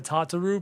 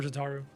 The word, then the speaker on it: Tataru: I don't like the Tataroo pronunciation. I prefer Tataru.